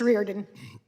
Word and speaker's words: Reardon: Reardon, am I pronouncing that right? What's the right pronunciation? Thank you. It's Reardon.